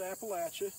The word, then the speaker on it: Appalachia: typical track of Upland Appalachian Hardwoods uh and yes we pronounce it Appalachia it's like throwing an Apple at you so this is the